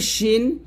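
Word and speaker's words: س: জের শেদ সদ এবং সিনটা একটু খেয়াল করুন সদ হবে মোটা সিন হবে পাতলা জিব্বাটা নিচে দাঁতে লাগবে তবে সদর বলতে হবে মোটা করে সদর আর এটা হবে সিন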